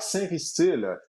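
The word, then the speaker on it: Sainristil: envoie une question qui est pertinent oui Mike saintile c'est la prononciation de son nom de famille paril est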